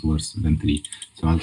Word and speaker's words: trie: I know it's tree. Like in English, it's supposed to be tree from retrieval, but uh, it sounds weird to say a tree because that's obviously, and